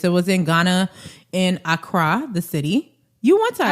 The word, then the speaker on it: Accra: I said Accra, like the American. I got corrected when I was there. Accra. Yeah. That's how they say it.